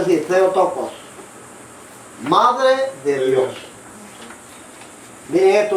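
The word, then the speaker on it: Theotokos: Se pronuncia así, se tocos, madre de Dios.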